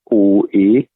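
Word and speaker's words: An Oa: That's a tough one to pronounce because it's spelled Anoa, but it's An O because there's a peninsula on the southwest corner of Islay, and it looks like the letter O.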